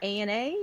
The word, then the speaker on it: ANA: Is it Ana or ANA? How do you pronounce Well, Ana? no, as in Nirvana, yeah.